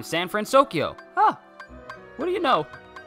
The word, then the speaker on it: San Fransokyo: Caribbean next and then San fransokyo so Sam friend Tokyo I can't no I said it right the first time San fransokyo huh what do you